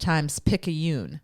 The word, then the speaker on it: Times-Picayune: So he also told me that this is pronounced Times-Picayune.